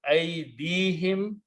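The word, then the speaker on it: أيديهم: Wama amilatuhu aydihim. Again, when you combine these, it will become aydi, and this will be pronounced him also. Whom will be pronounced him.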